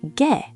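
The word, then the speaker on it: 게: Now, the word for crab is ge, also with ae. But dog is gae, spelled with ae.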